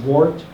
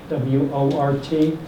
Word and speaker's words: wort: In a lot of common names, you'll see wort, W-O-R-T. I learned recently that actually should be pronounced wort, and it's just has nothing to do with funny growths on your fingers.